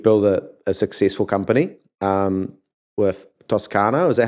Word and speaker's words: Toscano: And obviously you've built a successful company with Toscano. Is that how you pronounce it?